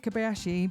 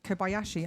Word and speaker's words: Kobayashi: Izzumi Kabayashi became I can't say that properly. Izzumi Kobayashi, I did say it properly.